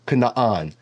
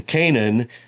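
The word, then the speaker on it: Canaan: is not always consistent so in this case the two A's in Canan just get shortened and the stress falls in the first syllable but all this to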